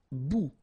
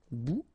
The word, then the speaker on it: bout: Okay, bon, all right, and here we've got substantive, un bon, un bon, un bout. Remember, final T not pronounced. Un bout, une bout.